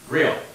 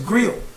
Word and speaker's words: Griot: Well, actually, the T is silent. Griot. So it's Griot.